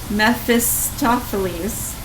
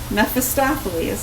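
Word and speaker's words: Mephistopheles: Mephisttophles. Mephostophles.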